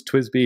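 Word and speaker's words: TWSBI: called twis Echo so it's twis be it's spelled weird T WSB and then Echo EC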